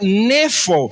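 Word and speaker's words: νήφω: sobrio viene de la palabra griega que significa o se pronuncia nefo y significa literalmente estar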